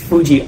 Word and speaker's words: Fuji: And I think I've been saying the mountain's name wrong the whole time, because I think I've been saying Fiji, but it's not Fiji. It's Fuji, obviously, because Fiji is the country.